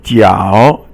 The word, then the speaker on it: 脚: And then the next one is 脚. 脚 is your foot, and it's third tone.